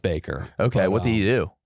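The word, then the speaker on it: Bakker: Jim Baker is Devils oh ba KK backer it's pronounced Baker okay what did he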